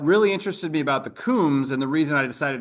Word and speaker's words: Coombs: What about the Coombs? Am I pronouncing that correctly, Ryan? Yes, you are pronouncing it correctly, and they're another example where I found different variations of that last name.